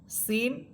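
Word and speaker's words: سين: সিন এর মাখরাজ হচ্ছে জিহ্বার অগ্রভাগ সামনের নিচের দুই দাতের আগের সাথে লাগবে। যেটা যা হরফের মাখরাজটা ছিল। আর যা হরফ যা সিন আর সামনে আসবে সদ।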